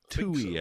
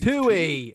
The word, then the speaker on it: Twohy: film directed by David Two. Is that how you say his name? Tui, I believe. Tui like the commercial airline.